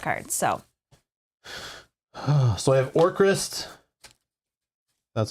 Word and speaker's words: Orcrist: So I have Orcrist.